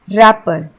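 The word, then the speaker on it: wrapper: अब इसको हम रैपर नहीं बोलते हैं, क्योंकि इसमें डब्ल्यू साइलेंट है, हम इसे बोलते हैं रैपर।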